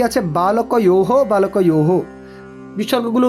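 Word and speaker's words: বালকঃ: কেন না ওই যে বিসর্গটা সংস্কৃতে আমাদের কিছুটা হ এর মত উচ্চারণ হয় তাই কি বলছি আমরা বালকহ তারপর বালকম অনেকে বালক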